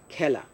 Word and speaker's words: খেলা: আমরা খেলা শব্দটা লিখি খ একার দিয়ে, কিন্তু উচ্চারণ করব, আসলে উচ্চারণ হয় এর মতো, অর্থাৎ জফলা আকার, খেলা। এইভাবে বেলা, খেলা, এভাবে উচ্চারণ করব।